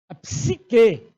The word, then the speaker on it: psique: né são crises cíclicas cuidado com a pronúncia ela é muito delicada você não vai pronunciar botar um I depois do P e pronunciar não e não olha não é fácil